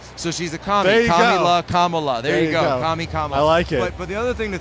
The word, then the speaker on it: Kamala: we got into this CU he was saying camela and then other people said Kamala but I